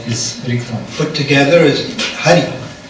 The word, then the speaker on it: Hari: Put together is Hari. И поставить их вместе получается слово Хари. H-A-R-I. То есть Х-А-Ар-И. The syllable Ha in the word Halam И слог